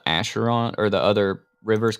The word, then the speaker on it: Acheron: and I think the other road is called Acheron, or the other river is called Acheron.